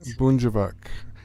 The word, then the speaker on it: Bunjavak: or Bunhivak? Or Yes. is the J silent? No, it's not. Bunjavak.